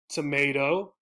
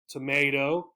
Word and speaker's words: tomato: this word right here again the pronunciation difference is going to be on this sound this letter and we have two of them this one is a tomato tomato tomato this one is